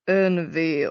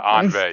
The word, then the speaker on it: ennui: Oh yeah, maybe Anway, or maybe my pronunciation was shit on that. Sorry guys. It's apparently like Unvi or something. Yeah, Anve.